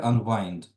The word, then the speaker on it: unwind: Це ж не вітер в даному випадку, да? То ми читаємо wind, а це unwind. Як пружину розкрутити. Так. І є ж також яке слово wind, воно читається саме wind. Це закручувати якийсь механізм, типу пружину. Так? Мгм. Unwind – це unwind розпустити цю пружину.